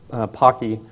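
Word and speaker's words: Poky: which there are several uh angstrom and po Pocky is the correct pronunciation are two good examples however even those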